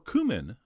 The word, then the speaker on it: cumin: We're also going to throw in a spoon of ground cumin, or cumin, as I believe it's supposed to be pronounced, as well as a little bit of ground coriander.